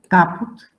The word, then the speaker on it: caput: And then if C stands before A, O, U, before consonant, and at the end of the word, then we have to pronounce as K. For example, caput, cutis, lacrima, lac.